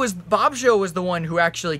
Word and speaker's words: Bobsheaux: It's spelled Bobsheaux, but his name's Bob. It's, for some reason, said Bobsheaux.